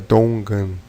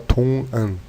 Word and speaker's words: 동안: Com A, ficaria Dongan. Mas não tão forte. Dongan, como se tivesse meio fanho, enfim. Também Dongan, ou se pode pronunciar Tongan.